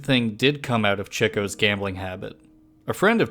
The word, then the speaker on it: Chico: meant to be pronounced Cho as so as to represent his interest in chicks unlike the common Spanish